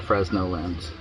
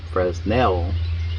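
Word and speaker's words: Fresnel: I wrote Fresno lens it's not a Fresno lens this is I've heard it called prel lens Fresno lens but the true pronunciation and if you look up for now or Fresno on the internet it comes up FR nail uh lens so I stand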